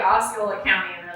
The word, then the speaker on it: Osceola: But I met Mike Osceola at the Chalet Suzanne.